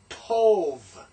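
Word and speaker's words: טוֹב: We have Tov. Notice that's a V pronunciation. Tov.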